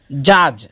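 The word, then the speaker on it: judge: উচ্চারণ হয় না, যেমন জাজ এবং নলেজ। এখানে ডি এর পরে জি এসেছে দুই শব্দের মধ্যেই, যার কারণে ডি এর উচ্চারণ হবে না, শুধু জাজ এবং নলেজ উচ্চারিত হবে, ডি বাদ পড়ে যাবে।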